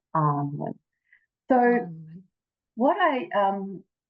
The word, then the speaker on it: Annwyn: Talk about hidden in plain sight, but the pronunciation is Arnwin.